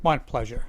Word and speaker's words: Montpleasure: So I was saying your name wrong. It's Montpleasure. Montpleasure. Yeah, it can be pronounced different ways.